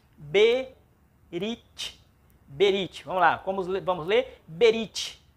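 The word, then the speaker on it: ברית: Como não tem, então é uma palavra de apenas uma sílaba. Berit.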